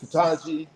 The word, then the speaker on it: Ketanji: This is how you pronounce it, Ketanji.